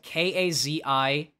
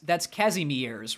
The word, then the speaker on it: Kazimierz: Poland, and it's spelled K-A-Z-I-M-I-E-R-Z. And you would look at that and you would go, that's Kazimierz, right? Nope, it's Kazimierz. With two Z noises.